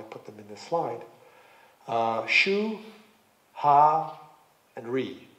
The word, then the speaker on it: Shu: Shu, Ha, and Ri. And Shu rhymes with Shu, you know, like the stuff, fortunately the same in German.